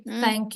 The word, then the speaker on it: thank: Jadi nggak yang T, tapi nggak S juga. Dia T. tengah-tengah kayak sa ini. Paling perfect kita analogikan dengan sa. Month, thank you. Month. Terus, Thank you. pokoknya kalau ketemu TH itu akan dibaca kayak gitu.